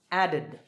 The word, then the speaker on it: added: All right, next, the last sound is d, so the ed ending is pronounced id, added, added.